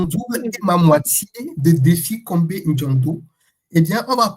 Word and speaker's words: Défi: Alors, j'ai mon nom c'est prénom c'est défi comme un défi. Euh ça s'écrit comme le défi et mon nom c'est Combé.